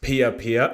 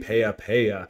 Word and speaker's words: Piya: the magical journey and for correcting me on how to pronounce Pia Pia I was saying pea so thank you so